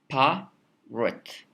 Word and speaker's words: parrot: So this pa, which is stressed, and this rut, which is unstressed, what's the difference between them?